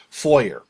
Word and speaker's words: foyer: Like we won't say foyer, but there's no fwa sound really in English anyway, so we say it the way that it the way that seems pronounceable with English, foyer.